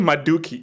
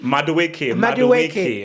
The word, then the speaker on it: Madueke: Did you call him Maduki? Madueke.